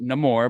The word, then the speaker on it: Namor: it you know in in the movie he he he pronounces it no more but that's because he has a Hispanic accent I've watched so many people break down black panther before seeing the movie they called him Namor after seeing the movie they called him no more and it's like pick one like you're stuck with one it's not that his name changed it's just the guy pronounces it differently they say he has